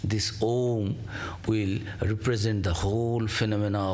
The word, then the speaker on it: om: and this is the OM and the home only because these three letters oh pronounced in combination as om May well be the